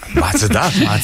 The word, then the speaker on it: Mazda: Matsuda. Matsuda? Matsuda. Matsuda. Matsuda. Matsuda. Matsuda. Tényleg, Matsuda. Matsuda. Matsuda. A nő így mondja. Matsuda. Matsuda. Matsuda. Ez a Mazda. Semmi köze ahhoz, ahogy mi mondjuk.